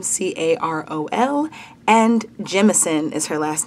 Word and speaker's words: Jemison: It's spelled M-A-E is her first name, Carol is her middle name, C-A-R-O-L, and Jemison is her last name, J-E-M-I-S-O-N, and she's the best.